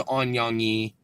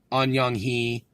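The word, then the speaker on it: 안녕히: that good night is on young e on Young Hee sometimes the H is silent in Korean depending on on the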